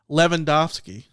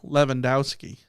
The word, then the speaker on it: Lewandowski: The tough part is whether or not the person wants the W pronounced correctly or not. Like Dirk Nowitzki. And I know that he's German, but it's a Polish name. Dirk Nowitzki is pronounced correctly. Lewandowski, pronounced correctly. But then people say Lewandowski. That's not correct.